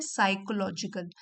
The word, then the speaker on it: psychological: देखिए यहाँ पे पी साइलेंट है, साइकोलॉजिकल।